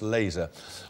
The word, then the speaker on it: LZR: guess s YN no it was lzr usually pronounce laser worn by many record